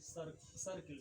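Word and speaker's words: circle: ये आपको याद रखने योग्य बात है कि सी के बाद अगर ये रहे आई ई वाई रहे तो सी को स पढ़ेंगे।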